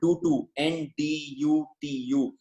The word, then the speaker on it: Ndutu: This is a place called Ndutu, N-D-U-T-U. Most of the words has an N before, but the N is silent.